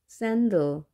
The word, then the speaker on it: sandal: sandal. 자, 샌달. 자, A가 두 개가 있지만 뒤에 있는 A는 발음되지 않습니다. sandal.